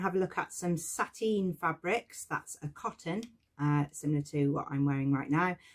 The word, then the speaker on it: sateen: And we're going to look at some patterns to match with working with sateen. Sateen is a cotton fabric, and although it sounds like the word satin, you won't get a really shiny finish.